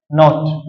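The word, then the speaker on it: naught: सही है, एम्पलीट्यूड खे असां शो कराईंदा आहियूं ए सां या वरी एक्स नॉट सां। हिनखे छा पढ़ंदा आहियूं असां? नॉट।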